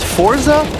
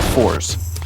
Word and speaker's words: ForZe: is brand new uh is it pronounced Forza or fors I've always said fors a lot of people say Forza so I I would just say preference but I'm sure there's